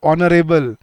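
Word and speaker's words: honorable: एन क्यों लगता है, बोलते सर एच साइलेंट है। एच साइलेंट होने से क्या हुआ, साउंड देखो क्या है, आ, आर, ओ, ऑनरेबल।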